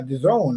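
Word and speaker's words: DAZN: time you know uh it's not daz and it's the zone that's how they pronounce it the zone yeah yeah yeah but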